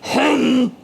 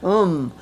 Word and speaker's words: hum: Hum, hum.